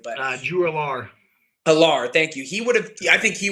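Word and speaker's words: Allar: I can't pronounce his last name ever correctly, but Drew Alar. Alar, thank you.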